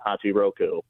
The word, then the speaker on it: Hachiroku: I was calling to correct you on how to pronounce that dude's name. It's Hachi Roku and I have nothing to say about the bomb.